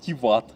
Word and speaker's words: Тиват: Но все-таки вот чаще я слышал ударение на вторую лицо. Угу. Просто вот часто еще там Тиват.